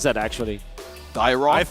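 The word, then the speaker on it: Dyrroth: Now I'm gonna be surprised if that is how do you pronounce that actually? Dyroth? I say Dyroth. Yeah. Dyroth, okay.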